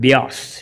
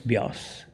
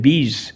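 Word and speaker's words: Beas: to a place called bias b-e-a-s bias when he used to fly over the map he would look at the map he used to pronounce it bees and miss it he told me the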